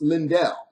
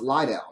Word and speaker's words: Lydell: So yeah, my name is not pronounced Lindell. It's actually pronounced Lydell.